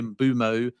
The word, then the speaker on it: Mbeumo: I know those that live in Africa say there's kind of a W in there so it's sort of bumo but I say bumo because that is like for like how he pronounces it.